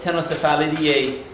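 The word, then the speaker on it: Ctenocephalides: C silent. You start out with C, but tennosphala is how you say it.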